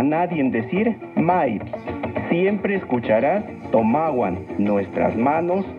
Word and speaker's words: tomahuan: Recuerda que en el náhuatl las palabras se acentúan en la penúltima sílaba. Tomahuan.